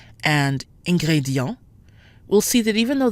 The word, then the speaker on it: ingrédient: However, ingrédient is made up of four syllables, ingrédient. So the I toward the end of the word is actually not in the same syllable as the E-N-T. E-N in its own syllable is actually pronounced en, giving us ingrédient.